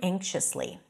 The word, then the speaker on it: anxious: bit he looked around anxiously anxious technically it's the a as in cath but before the NG sound which we have here in the word anxious it sounds more like